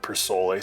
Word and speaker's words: Persol: I say every gentleman, sartorial gentleman, should buy himself at least one pair of Persole sunglasses. I know it's pronounced Persole, but I like the way Persole sounds.